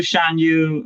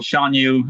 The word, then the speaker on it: Shan Yu: But also Shan Yu, or Shan Yu, how you want to pronounce it.